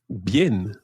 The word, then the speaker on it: bien: The first one that we're going to learn is bien.